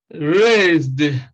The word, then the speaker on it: raised: loved saved raised praised now take note of the fact that when we are pronouncing the sound of s here in rest the sound is z the same thing here the s letter gives us the sound of z so we have raised and we have praised so these are all